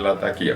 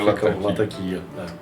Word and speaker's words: Latakia: Eu, como queria saber o certo qual é, perguntei para um árabe, um libanês, qual era o nome da cidade. Mostrei o nome da cidade e eles pronunciam alguma coisa muito parecida com a lataquia. Então, para mim, ficou sendo lataquia.